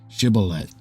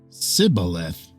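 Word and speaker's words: shibboleth: then they would say to him say now shth but he said calth for he could not pronounce it correctly Then They seized him and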